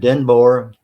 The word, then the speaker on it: Denboer: And so David Denboer, DENBOER. Did I pronounce that right? Yeah, it is. It's like Boer, but like with an E.